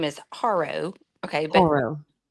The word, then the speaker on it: Haro: Okay, so Jake and his name is Haro. Okay, but it's Mexican. So it's it's Ardo.